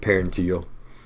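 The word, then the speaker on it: parietal: And I said parental, I meant paranteal. It's easy to move that in upwards a few letters and mispronounce, but paranteal is the peach colored structure.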